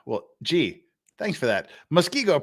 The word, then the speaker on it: Muskego: gee thanks for that Muskego pronounced like the fish Muskie and go thank you for these